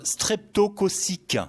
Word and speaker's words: streptococcique: Alors, on parle aussi, docteur, d'angine, streptococcique, si je le prononce bien. De quoi s'agit-il exactement ? Oui, vous vous débrouillez pas mal dans la prononciation.